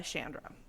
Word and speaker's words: Chandra: is yeah it's Beth Shandra Lawson but she went by Shandra okay and she spells it with a CH so that's why I keep wanting to say Chandra but it's definitely Chandra okay well I said